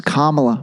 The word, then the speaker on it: Kamala: with with Cala God I keep saying Kamala it's Kamala man that that that is tough to tough to remember how to pronounce her name anyway uh you know